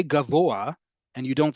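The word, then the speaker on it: גבוה: So in the word gavoa tall, right? That hey is actually pronounced. Even if you say gavoa and you don't sound doesn't sound like you're saying hey.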